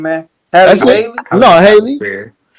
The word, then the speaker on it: Halle Bailey: Only thing I know about bro is he got a baby by Haley Bailey. How you say her name, man? Halle Bailey? No, Haley. Halle Bailey.